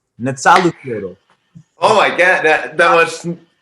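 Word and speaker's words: Nezahualcóyotl: His name is Netzahualcoyotl.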